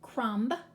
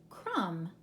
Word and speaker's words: crumb: top you recognize those we're not going to pronounce it crumb but rather we'll just leave the be off it's silent crumb like a crumb of